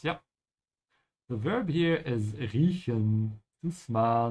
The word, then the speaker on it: riechen: The verb here is riechen, to smell. Make sure your mouth is open in the middle.